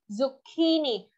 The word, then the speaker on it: zucchini: look at this one, some of you might say zucchini, right? Zucchini. But this is not ch. This is actually zucchini. Second syllable, that key. And that's where it confuses people because of this spelling. That C-C-H-I just has that key sound, zucchini.